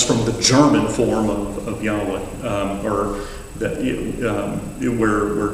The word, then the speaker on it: Yahweh: No one really knows exactly how it would have been pronounced in ancient times, but it's generally believed to have been something akin to Yahweh. That's how it tends to be pronounced today.